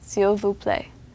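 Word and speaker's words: s'il vous plaît: you say please Sil again that's seal play or the informal version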